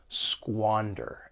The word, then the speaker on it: squander: For pronunciation, the verb has two syllables. The stress is on that first syllable, squander. And keep in mind that sqa has that squa sound.